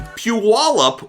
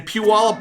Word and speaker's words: Puyallup: well is Rory Pitts and Luke Weaver in Puyallup, Washington. There, I said it right, Rory. I'm getting good at this. In Puyallup, Washington, they're doing a weekly show inside of